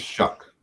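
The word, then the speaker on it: Shough: His name is pronounced Shuck, which is a terrible decision on his part.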